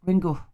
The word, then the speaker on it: Ringu: But in fact, Japanese words must end with either a vowel or a N, and the U should be pronounced as softly vocalized as schwa. Schwa. Ringu. Ringu. Schwa. Right? That's how you would pronounce Ringu.